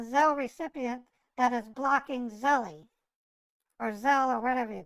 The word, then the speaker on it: Zelle: recipient that is blocking Zelly or Zelle or whatever you call it. Oh, Zelle rhymes with okay. Zelle rhymes with hell for a reason.